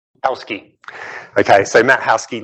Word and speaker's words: Hauschke: Hauschke. Hauschke.